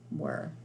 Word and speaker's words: were: what at the beginning the e with the bossy R and then the silent e on the end were all right so those